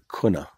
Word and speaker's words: Cunha: That island is where my great-great-grandfather, Anton George Cunha, in Hawaii pronounced Kuna, C-U-N-H-A, that is where he